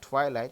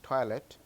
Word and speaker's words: toilet: Not twilight, it's toilet.